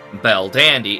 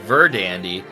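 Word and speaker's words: Verdandi: got to be more phonically as a b and thus verdandy became bell dandy and then it got translated back into english and we have bell dandy instead of verdandy the uh correct norse pronunciation that all said it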